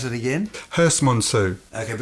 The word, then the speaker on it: Herstmonceux: How do you pronounce it again? Herstmonceux.